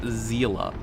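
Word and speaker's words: Seele: a lever good job seala cause I finally figured out how to pronounce it it's like zela like you say the word zeal and then you say uh at the end like talk about mozzarella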